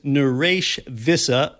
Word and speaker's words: Naresh Vissa: race today and by the way the correct pronunciation of his name for when you're with him on the phone or zoom is naresh visa i say it wrong sometimes in today's environment